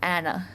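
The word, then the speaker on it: Anne: was surprised by and name in Dutch is pronounced Anna which is something I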